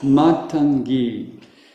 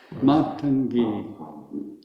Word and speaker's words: Matangi: Matangi. Matangi. Matangi. Is that there's a long. It's the first A is long and the ending E is long.